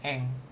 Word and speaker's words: 円: Ini satuan mata uang Jepang, yen, eng. Gitu bacanya.